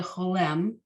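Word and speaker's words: חולם: Then you have the dot above, also the Vav with the dot above. Those are both the Cholem. It sounds like O. So when you have just the dot, it's called the Cholem. When you have the dot above the Vav, it's called the Cholem Vav. They're still just O.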